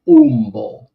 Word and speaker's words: Ummo: But if they hear them say it, it's like Umbo.